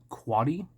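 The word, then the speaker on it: Quade: Cubs manager uh Mike quady it's spelled like Quaid but from what I saw it's not pronounced that way I think he coached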